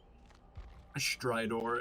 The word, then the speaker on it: Stridor: Stridor is how it's pronounced.